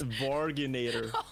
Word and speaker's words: Varginator: You're the you pronounce virginator. That name. You did my man dirty here, Muddy. It's Varginator. Like, you completely butchered his name.